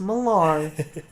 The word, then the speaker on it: Millar: It's pronounced Millar.